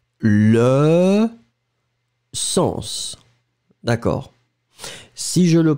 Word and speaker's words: sens: Dans ce mot-là, on doit le prononcer. Le sens. Parce que si je ne le prononce pas, le sang, c'est ce que je vais couper et ce qui va arriver.